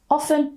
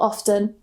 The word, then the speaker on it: often: They're both fine. They're both in the dictionary. You choose whichever one you prefer. Often or often. Actually, you know what? Let me know in the comments. Do you pronounce often with a T or no T? Are you team T or not team T?